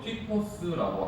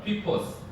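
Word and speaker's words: τύπος: 6절에 나오고 11절에 나오는데 이 본보기가 헬라어 원어로 튀포스라고 합니다. 한번 따라 하시겠습니다. 튀포스. 자, 단어가 좀 어렵고 발음도 어렵지만 이 정도는 여러분 아셔야 돼요. 다시 한번 하겠습니다. 튀포스.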